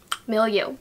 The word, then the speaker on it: milieu: neutral mattes milieu palette I had to look up how to pronounce it no you milieu so if you're interested